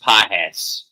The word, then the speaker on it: Pages: Pronounced Pajes. Pajes?